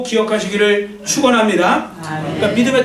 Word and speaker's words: 아멘: 바로 영어 단어의 아이에요 아멘 물론 또 영어 발음을 에이멘 뭐 이렇게 하잖아요 근데 어쨌든 아멘 우리가